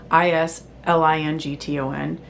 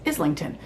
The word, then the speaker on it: Islington: So, if I S L A is Isla, I S L I N G T O N makes sense to be Islington.